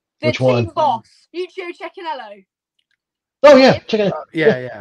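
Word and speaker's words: Cecchinello: the team boss you chinello oh yeah check yeah yeah no it's a no no no no not a bir poo it was definitely CH Canelo okay um I think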